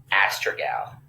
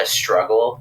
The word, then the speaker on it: Astragal: um there's a the i think the proper way is astrogal like a strikeout but there's like a million dollars in ways we've heard of too we've heard like a struggle that some people just